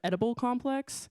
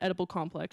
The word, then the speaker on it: Edible Complex: importantly, clever captioning of Edible Complex, spelled E-D-I-B-L-E, but pronounced almost like Oedipal, spelled O-E-D-I-P-A-L, which is the tragic Greek hero.